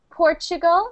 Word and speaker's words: Portugal: yeah in uh English when we pronounce Portugal we actually say it like this portal like like it's not a t but a CH like this Portugal Portugal